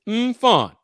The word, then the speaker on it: Mfon: with his sister, Mfon, and it's Mfon. That's how it's pronounced. That's how she pronounced it. Mfon, M-F-O-N.